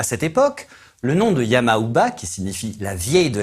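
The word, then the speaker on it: Yama-uba: japon médiéval à cette époque le nom de yama ou bas qui signifie la vieille de la montagne et se prononce également ya mamba était synonyme de terreur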